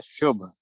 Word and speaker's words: शुभ: Class में लड़का था, उसका नाम है शुभ, शुभ, लेकिन अमेरिकन उच्चारण उसका सब लोग शब करते हैं। ओह माय गॉड। हाँ, क्योंकि यहाँ पर तो यू को आ ही पढ़ते हैं ना, तो शुभ को ब ही पढ़ेंगे।